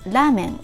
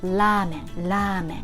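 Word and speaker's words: ラーメン: names of foreign people lamen originally came from china so we usually write ramen in katakana form you see line here the lime means you prolong the preceding vowel here it's a so you prolong and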